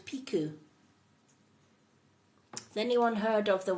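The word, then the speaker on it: Pixiu: Pikachu cartoon characters but uh as as actual pronunciation is piku the little dragon yep Kelly's heard of piku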